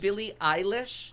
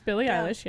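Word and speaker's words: Billie Eilish: mine because the alliteration pronouncing Billy Eilish it's Billy I wish Billy I wish her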